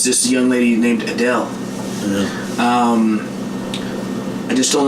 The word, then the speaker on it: Adele: I think it's Adele. Adele. Adele. Yeah. Adele. I love those. Adele. Adele. The E silent. The last E's silent.